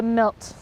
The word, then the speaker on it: milt: And our male provides the milt. That's spelled M-I-L-T.